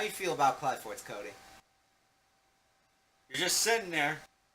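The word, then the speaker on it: Qliphort: Yeah, and the pronunciation is Cly. Yeah, not Clee or, Cleforts or, Quill or yeah. anything like that. It's Cly, but I won't be like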